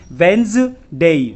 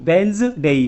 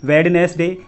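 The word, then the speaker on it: Wednesday: सही उच्चारण होता है वेंज डेई वेंस डेई कुछ लोग इसका गलत उच्चारण करते हैं जैसे कि वेडनेसडे या फिर वेंस डे तो वेडनेसडे डे और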